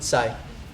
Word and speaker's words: Psy: Psy. That's his name. Gangnam Style, yeah. What did he make in the last 6 months? Psy's made so much money. And the thing is with Psy, you're seeing some things change with the internet,